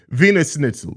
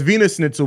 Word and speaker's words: Wiener Schnitzel: It's Wiener Schnitzel is how you say it. It's spelled with a W. In Germany, they pronounce their W's as V's and V's as W's. So it's Wiener Schnitzel, but it's spelled with a W.